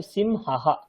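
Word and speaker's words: सिंहाः: শব্দ হচ্ছে সিংহ, এবারে বিসর্গের দরুন আমাদেরকে আবার হা উচ্চারণ করতে হবে। তো সিমহাহা, সিমহা প্লাস হা, সিমহাহা, সিমহাহা।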